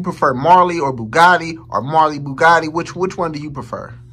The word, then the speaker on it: Marlybuggotti: So everywhere on any platform you have to look for me, it's Marlybuggotti. And that's Bugatti with B-U-G-O-T-T-I as well. Okay. And Marley is spelled M-A-R-L-Y. So not the E.